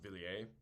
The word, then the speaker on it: Villiers: I think it's pronounced Villiers. It's French.